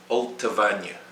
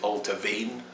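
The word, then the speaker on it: Allt-a-Bhainne: and you see it altavanya altavanya alta vanya some people say ultra vein as well both are acceptable six it's not ochroisk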